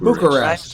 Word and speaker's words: Bucharest: Bucharest. Rhymes with rest and books. Bucharest. Alliterates with books.